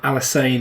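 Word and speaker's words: Alysanne: Alisane, insane in the main brain, I think is how you say it.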